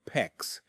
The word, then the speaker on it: PEX: with either copper or PEX, which is a flexible cross-linked polyethylene tubing. PEX is spelled PEX and it rhymes with flex.